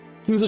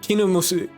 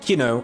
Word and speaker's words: Kinzo: Ganon got closer and tried to pat his master's back, but Kinzo motioned for him to stop. He is not Kino. I need to be careful to not mispronounce it.